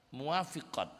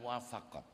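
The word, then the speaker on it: موافقات: enggak ada rasa sedih muwafiqat bacanya bukan muwafaqat kalau almuwafaqat itu karya asyatibi kalau muafiqat itu sudah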